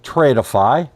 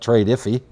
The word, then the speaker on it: Tradeify: Uh we do have an affiliate uh agreement with Tradeify or as I like to call it, trade iffy because it's spelled trade with FY. Tradeify.